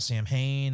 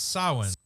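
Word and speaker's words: Samhain: or whatever like and they talk about Sam Hayne and all that and trying to start doing how it's pronounced by the way right it's it's sowing but I think all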